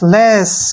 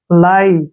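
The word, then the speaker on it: lie: ई ठीक है ना लाई क्या पढ़ेंगे इसको लाई ली नहीं पढ़ना है इसको लाई लाई मीस क्या होता है झूठ य आई का उच्चारण आई के रूप में ही होगा लाई लाई मींस झूठ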